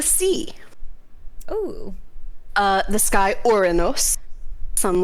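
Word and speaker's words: Ouranos: oh uh the sky orenos some like to refer to him as uranus but i prefer uranus how dare you his name is your rayness and you will say it like that so that is the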